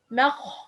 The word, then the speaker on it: مخمصة: Okay, pronouncing the meme heavy. مخمصة ما not ما مخمصة مخمصة. It's wrong. مخمصة. Okay, and attention for this word. This word have meme, it's light, and the kha, it's heavy.